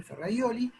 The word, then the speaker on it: Ferrajoli: oyeron hablar de él, Ferrajoli se escribe, Ferraioli, que plantea esta idea